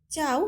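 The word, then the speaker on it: ciao: দুইটার মিনিং প্রায় একই এখানে চাওটা হচ্ছে একটা ইটালিয়ান ভাষা তাই বলতে পারেন এখানে যে নিয়মগুলো যুক্ত বর্ণগুলো দেখিয়েছিলেন উচ্চারণ করার জন্য এটার সাথে তো মিলতেছে না মিলবে না কারণ এটা হচ্ছে একটা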